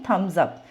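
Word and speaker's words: Thums Up: लिखा ही नहीं है तो यह कंपनी के इंटेलिजेंस है उनको पता है जैसे प्रोनंसिएशन है उन्होंने उसे वैसे ही लिखा ताकि उनका ब्रांड का जो नेम है ना सारे सही तरीके से बोले तो यह क्या प्रोनंसिएशन है थम्स अप तो हम इसको क्या बोलेंगे थम बोलेंगे तो इसी पे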